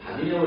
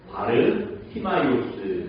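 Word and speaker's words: Βαρτιμαῖος: 그리스 말이죠 뭐라고 읽는데요 바르 티마이오스 이렇게 읽는데 근데 우리 성경에는 뭐라고 나오죠 이름이 바디메오 예 그러니까이 바디메오는 영어식 발음이고 그 바르 스마스 그 그리스말 그 당시 헬라 말의 발음인 거예요 그리고 그 보시면 바를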